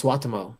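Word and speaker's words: Suotamo: And I was working with Jonas Swatamo, the new Chewbacca, that weekend.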